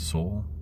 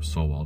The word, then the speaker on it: Sowell: here and it's by thomas soule or so well depending on how you want to pronounce his name and what he talks